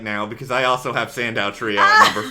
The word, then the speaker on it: Sandou: Okay, here's with, I'm going to say their name wrong, the Sandou trio. Sandou trio.